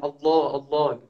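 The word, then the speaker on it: الله: Kalau tadi taglid itu wo itu penyebutannya ada seperti juga seperti menyebut kalimat Allah gitu ya, Allah. Nah, itu disunahkan untuk taglid bacanya.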